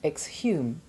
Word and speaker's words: exhume: The H is sounded in exhale and exhume, but is silent in exhaustion, exhibition, exhilarated, and exhort. It's a challenge to make